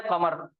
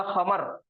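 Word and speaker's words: قمر: उर्दू में हम काफ को भी खा प्रोनाउंस करते, खा का तलफ्फुज निकालते। ये कमर के मायने है चांद। अगर मैं उर्दू के हिसाब से काफ की जगह अगर मैं बोलूंगा खमर, तो खमर के मायने है शराब।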